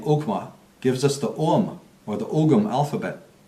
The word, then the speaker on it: Ogham: And his name, Ogma, gives us the Ogham, or the Ogham alphabet, right, of Ireland. Although in Gaelic it's actually pronounced Om, the Om, very much like the Hindi or the Eastern concept of Om.